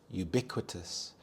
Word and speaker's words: ubiquitous: anger and bitterness ubiquitous ubiquitous the stress is on the second syllable bi ubiquitous this means when everything